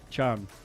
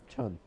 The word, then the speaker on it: Can: the actual pronunciation is what K chan chan yeah like like John like John but with a not a full but like a chn that's like that's like a Turkish name Chun I know that what's